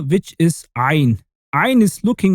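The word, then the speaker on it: عين: And now the 18th letter, which is ayn. Ayn is looking like a half-cut ant symbol. And you know what? It's pronounced like the of ant, but much more emphasized. You say ayn.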